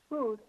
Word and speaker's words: Huth: Although it's pronounced Huth, it's spelled Huth.